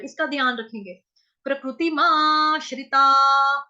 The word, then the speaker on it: प्रकृतिमाश्रिताः: प्रकृति माश्रिता, हा, ता के आगे जो विसर्ग देख रहे हैं 2 डॉट्स ऊपर नीचे, उसका उच्चारण होगा हा से। क्यों? क्योंकि विसर्ग से पहले शब्द यहाँ पे जो वर्ण आया हुआ है वो आ रहा है ता, इसीलिए विसर्ग का उच्चारण हो जाएगा हा।